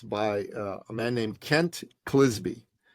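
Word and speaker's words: Clizbe: a man named Kent kisby rhymes with frisbee CLI I zbe Kent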